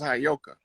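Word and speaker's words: Heyoka: I was telling you that word is properly pronounced as Hayoka.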